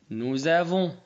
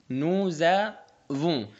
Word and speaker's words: nous avons: Nous avons. Nous avons. Z جات منين؟ جات من الاس. هتنطق Z لأن جا بعديها فويل.